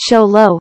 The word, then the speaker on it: Xolo: the mexican hairless or simply the zolo pronounced sholo for short is among the most